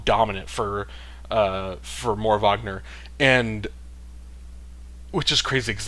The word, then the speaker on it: Wagner: Is it Vagner Mora? Like as a basketball fan, I know like France Vagner and Mo Vagner, like I know you pronounce that Vagner, but they're German and so I don't know if I don't know if more Wagner Vagner. I think it's Vagner, but um I I I